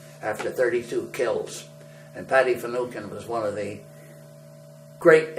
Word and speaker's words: Finucane: won't mean much because you and I would probably pronounce it Finucane, Finneucane, and an Irishman refers to that as Finucane.